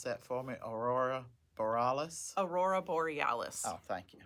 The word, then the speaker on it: Aurora Borealis: You want to pronounce that for me? Aurora Borealis.